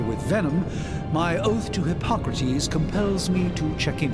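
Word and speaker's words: Hippocrates: do you feel H I didn't even know hypocrates that's how you pronounce it I would have pronounced it as hypocrites but then it sounded like hypocrite so he's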